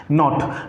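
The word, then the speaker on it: knot: नॉट।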